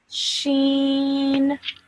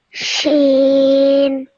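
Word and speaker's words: ش: How would you pronounce this? Can you remember? Just repeat after me. Sheen. Sheen.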